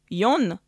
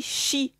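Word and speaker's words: 四: 4 et le 9 4 qui se prononce youn mais aussi chine ce qui est le même mot pour dire la mort et le neuf se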